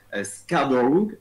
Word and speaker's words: Scarborough: devenu, voilà, c'est un ancien homme politique, Joe Scarborough. Alors, Ouais. franchement, moi, la prononciation anglaise, c'est mort.